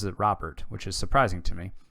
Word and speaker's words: Robert: they've got anderson mancotta luis man apparently he pronounces it robert which is surprising to me um colas grandao